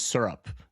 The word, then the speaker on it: syrup: I believe the correct correct pronunciation is syrup. No. As if like sir up would be the correct correct pronunciation here.